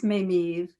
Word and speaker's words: Mameve: Well, it's Mameve. Two grandmothers, a Mamie and an Eva. And they were stuck together, and it's been kind of the bane of my existence.